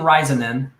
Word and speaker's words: Raisanen: um so i have risen then did i nail the pronunciation of the last of the last perfect yes that was perfect good way to go